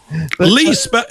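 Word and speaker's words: Lea: They will lee now. Lee, it's spelled L EA, isn't it? In this case, L E A.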